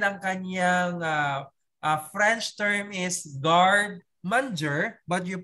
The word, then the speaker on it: garde manger: And ang kanyang French term is garde manger, but you pronounce it garde manger.